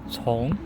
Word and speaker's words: 从: It is pronounced as 从.